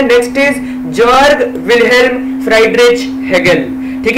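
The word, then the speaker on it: Friedrich: ठीक है, एक्चुअली ये प्रोनंसिएशन गलत है, लेकिन अगर हम फ्रेडरिक की जगह फ्राइडरिच बोले तो आपको एग्जाम में लिखते समय ऐसा नहीं पड़ती है, right. फ्राइडरिच, these are easy to remember, फ्रेडरिक not easy to remember, spelling बोल रहा हूं मैं। ठीक है, तो इसलिए हम इन्हें फ्राइडरिच ही कहेंगे।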